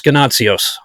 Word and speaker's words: Ganotsionis: I was going to say Ganotsionis, so it's Ganotsionis.